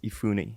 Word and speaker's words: Efuni: do you say your last name so it's ifune ifune yeah so i really looked and i'm